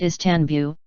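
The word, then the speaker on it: İstanbul: The modern Turkish name Stanbul, pronounced Istanbul, is attested, in a range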